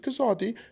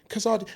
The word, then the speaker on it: Kazadi: voice you know hi my name is kazadi what sorry kazadi could you spell that for me kilo Alpha Zulu Alpha Delta